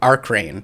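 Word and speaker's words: Arc Regn: when I record them how do you pronounce the album name Arc rain yes you are correct yeah rain is in Swedish yeah um okay let's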